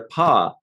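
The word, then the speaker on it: pagh: they're getting their testing their paw it's spelled p-a-g-h right but the paw rates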